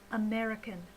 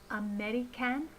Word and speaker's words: American: The first unstressed sound is the schwa sound. So instead of a in the syllable can in American, we should be using the schwa sound. Schwa is an unstressed sound like this, a. So instead of American, we should say American.